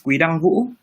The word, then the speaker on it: Quy-Dang Vũ: We'd love to try and pronounce it. Sure. My full name is Quy-Dang Vũ.